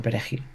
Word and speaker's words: perejil: empleados de la plantación les vamos a obligar a pronunciar la palabra perejil como el haitiano es hablante de creol y o de francés por tanto no pronuncia ni la r ni la J pues no podrá pronunciar bien la palabra peregil así la identificaremos y